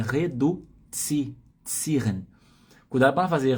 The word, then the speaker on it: reduzieren: na pronúncia, tem que tomar cuidado com a pronúncia. Então é reduzieren. Cuidado para não fazer reduzieren, vai avacalhar a pronúncia da palavra.